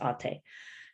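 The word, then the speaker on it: Atë: It's spelled ate like eight, but it's got the diacritics over the letters, and it's pronounced ate.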